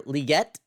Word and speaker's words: Legette: and I talked about uh wide receiver Xavier liette uh that's how you say his name because